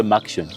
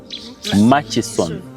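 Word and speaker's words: Murchison: Mas Falls ma maction some of you say maction it's m ma it's machis machon yeah machon FS okay yeah that's the right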